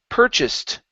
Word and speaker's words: purchased: uh next up is purchased the stress is at the very beginning okay instead of purchased